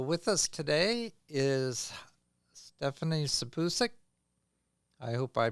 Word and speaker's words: Sipusic: us today is Stephanie sabusic I hope I pronounce your last name right Steph close well give me a pronunciation so I I stick with it correctly the pusic like peace okay okay uh Stephanie